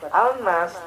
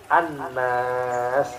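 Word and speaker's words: الناس: Maka bacanya bukan al-nas, tapi an-nas, gitu ya.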